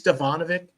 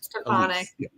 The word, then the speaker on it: Stefanik: And so they put her I don't know who, I don't know, Elise Stefanovich. Did I say her name right? Stefanik. Yeah, Stefanik. Yeah, it's Stefanik.